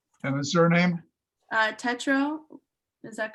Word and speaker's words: Tetrault: T-R-A-U-L-T. I would pronounce it Trault. No, Sorry, T, E, yeah, thank you. Thank you, Scotty. Or is there Read a my writing. letter? Tetrault. Gotcha. That's Tetro.